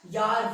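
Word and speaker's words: Jahr: अरे वो तुम्हारा दोस्त वाला यार नहीं, ठीक है, यार मतलब ईयर। और हाँ, जार मत पढ़ देना, बार बार कह रहा हूं, जे की साउंड जर्मन में वाई प्रोनाउंस होती है, तो क्या होगा?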